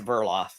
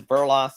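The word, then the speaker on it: Verdeloth: one no it's a burloff it's burloff the D assignment burloff there's a d I know the D is silent ancient uh yeah for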